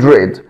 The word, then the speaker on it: read: طب تعالى ريد، هلاقي الماضي بتاعها ريد، طبعا هنا السبيلنج واحد ولكن النطق مختلف. read and read، cut and cut، put and put.